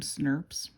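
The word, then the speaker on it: snRNP: proteins they're called Smurfs so it's SN R P we pronounce them schnapps and what schnapps do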